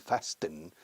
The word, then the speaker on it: fasten: Con T muda, no dicen fasten.